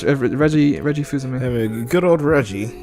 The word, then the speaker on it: Fils-Aimé: I know how to say it, even though it doesn't look like that's how you say it. It's Reggie Fuzume.